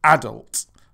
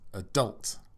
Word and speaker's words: adult: So a syllable is an individual sound, and the word adult has two syllables. A is one and dult is the other. Adult. And as you can hear, in British English we say adult, whereas of course in American English Jennifer says adult.